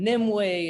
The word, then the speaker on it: Nimue: It looks like it's actually Nimue. It doesn't look like Nimue, but it's a Cornish name. So of course they pronounce things a little differently, but it's Nimue.